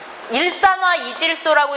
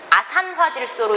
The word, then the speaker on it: 아산화질소: 일산화 이질소라고 읽는 거는 수질에서 읽는 거고, 우리는 아산화질소로 읽으세요.